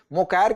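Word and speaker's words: Mokyr: Pronunciation का फर्क हो सकता है। तो देखिए जोल, मोकायर कह लीजिए, मोकेर कह लीजिए, फिलिप एगियन कह लीजिए और पीटर हॉब कह लीजिए।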